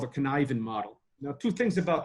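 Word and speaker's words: Cynefin: model that's called a connivin model now two things about the connivin model first of all can I even is not spelled and pronounced the same way at all so that's the first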